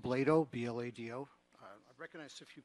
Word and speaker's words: Blado: It's pronounced Blado, B-L-A-D-O.